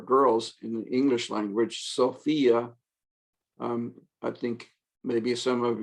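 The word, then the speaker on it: σοφία: Sophia, also alpha pure, ends in iota. We'll also pronounce with accent on the iota. Sophia, koinonia, cardia.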